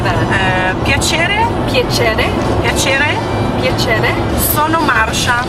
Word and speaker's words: piacere: Piacere.